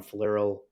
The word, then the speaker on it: Flierl: LinkedIn um so and my last name is spelled f as in Frank l-i-e-r-l so falero the name of the company is amla amla